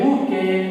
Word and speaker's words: bouquet: to her balcony, a bouquet of flowers. Bouquet, we must pronounce this one as bouquet.